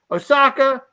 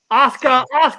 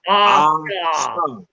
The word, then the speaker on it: Asuka: I always want to say Osaka. This right here needs to be. Hear me. Unlike your adversary, I'm an A-team member. I'm going to teach you how to say her name is Asuka.